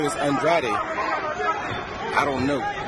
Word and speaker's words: Andrade: of his name is andrade i don't know nope uh actually it's andre the family prefers android even though it looks like andrade and if if they were portuguese it would be andrade but they are not